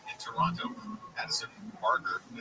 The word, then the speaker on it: Barger: Addison Barger, I said it right, Barger hit the first pitch hit grand slam in